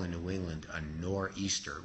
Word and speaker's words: nor'easter: And as he's writing this poem, what we call in New England a nor'easter, which is a corrupt English pronunciation for northeaster, a northeastern storm called a nor'easter sweeps into New England.